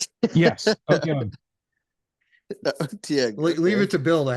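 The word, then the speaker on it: Otyugh: Otiug, yeah. Did I pronounce it right? Yes. Otiug.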